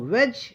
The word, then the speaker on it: wedge: तो वेज ये देखिए इसमें डी साइलेंट है। वेज के नहीं पड़ेंगे वेज पड़ेंगे।